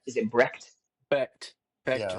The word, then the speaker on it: Becht: Is it Brecht? Is it Brecht? Becht.